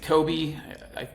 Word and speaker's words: Kobe: city of Kobe um everyone in the US pronounces it Kobe I blame Kobe Bryant for that but it